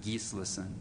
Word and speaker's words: Gesslison: started coming out because Gesslison's a big name in Iceland, pronounce it Gislison, and so they thought that was cool.